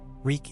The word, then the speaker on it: Reek: Reek, it rhymes with freak.